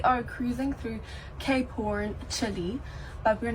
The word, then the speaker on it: Chile: Today we are cruising through Cape Horn, Chile, but we're not getting off. I told you, South Africans call it Chile. I was taught to pronounce it as Chile. I know it's Chile.